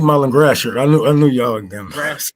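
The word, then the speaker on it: Gratiot: That's 8 Mile and Grasher.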